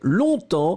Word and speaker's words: longtemps: Il y en a juste un et c'est longtemps. Le G est totalement muet. Vous ne le prononcez pas. Donc, L-O-N-G-T-E-M-P-S.